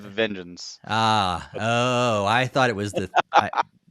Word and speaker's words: Vengeance: Is it Ingens or Ingience or Engines. Ingens? Is that it? Okay. Vengeance. It's Vengeance.